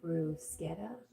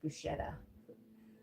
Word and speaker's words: bruschetta: Oh, brusetta. I thought it was Bruce Bruschetta. Miss Flipper corrected me. Pronounced brusetta.